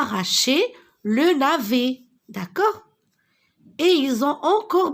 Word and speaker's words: navet: Alors, le titre de ce texte, le gros navet. Alors, regardez, la lettre S et la lettre T, je ne la prononce pas. Ce sont des lettres muettes, d'accord?